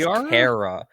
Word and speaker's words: Cara: Apparently, you're supposed to pronounce that as car. Cara.